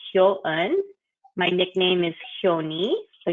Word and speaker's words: Hyo-eun: It's pronounced yo with an H in front of it, so Hyo. And think of the number, French number 1, un. And so it's Hyo-eun.